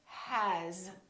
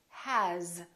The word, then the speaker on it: has: for example the word has it's spelled with an S but the sound is actually Z has here's another one this